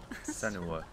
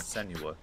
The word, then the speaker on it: Senua: Senua. Yeah, I almost forgot how to say her name. It's not Senua.